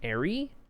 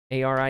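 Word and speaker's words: Arie: You can pronounce it ary a r i e like an airplane. Or you can pronounce it like a pirate.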